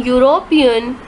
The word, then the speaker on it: European: giving us consonant sound the vowel U in University and uniform and the vowels EU in European sound like you why oh you that